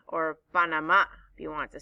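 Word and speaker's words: Panamá: 2023 we are going to drum roll please panama or panama if you want to say it correctly let's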